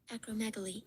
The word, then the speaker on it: acromegaly: I just want to know how it's pronounced. Well, you know what? Now that we're learning, let's just find the definition too. Acromegaly.